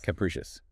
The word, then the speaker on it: capricious: Capricious. 3 syllables. Stress on the second.